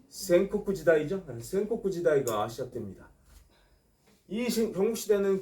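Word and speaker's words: 戦国時代: 전국시대가 도래한다 자 전국시대 일본어 선택하신 분들 전국시대 발음 쿠 센코쿠 지다이 센코쿠 지다이 시작됩니다이 경국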